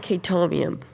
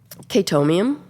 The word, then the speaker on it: Chaetomium: Um, which it doesn't even have to be black, but it is that and Chaetomium are the two What's the second one? Chaetomium. How do you spell that?